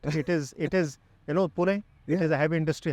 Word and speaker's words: Pune: It is Pune.